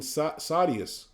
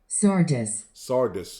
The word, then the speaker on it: Sardis: It says, thou hast a few names even in Sadius. Let me make sure I pronounce it. Sadius. Sardis.